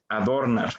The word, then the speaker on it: adornar: algo en adornar pero si nosotros pronunciamos la palabra adornar nos damos cuenta que la sílaba que mayor intensidad tiene es nada sano no suena adornar es adornar por lo tanto aunque